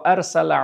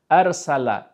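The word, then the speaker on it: أرسل: নম্বর আয়াত আছে, ওয়া আরসালা আলাইহিম, ওয়া আরসালা আলাইহিম, আরসালা, হ্যাঁ, এখানে কিন্তু সিন উচ্চারণ হয়েছে, যদি ভুল করে জিভ উঁচু করে দেন তাহলে কিন্তু আর সলা হয়ে যাবে এবং ভুল হয়ে গেল, আর সলা আর সালা আর সালা।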